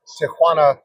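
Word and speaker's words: Tijuana: would say hospital in tjuana Mexico um one quick point it's not Tiana as so many uh people pronounce uh and uh doctor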